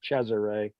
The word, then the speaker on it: Cesare: think was a uh this Fella's name like Caesar but they pronounce it cesare they uh I think